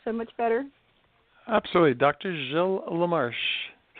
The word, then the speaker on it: Gilles LaMarche: Jill lamarche it's not in the way it smelled but it's the way you say it you know it's a French it's a french-canadian name so when you're in